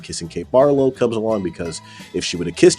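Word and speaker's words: Barlow: By the way, I mispronounced Barlo with Bartlett earlier, but that is the backstory.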